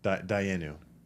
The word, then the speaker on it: dayenu: There's this really powerful practice in old Jewish culture or religion, which is called dayenu.